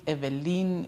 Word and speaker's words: Evelyn: Okay, so my name it's a French name, so it's pronounced Evelyn. I believe Evelyn would be Eveline. Mine is Lyn, so it's Evelyn.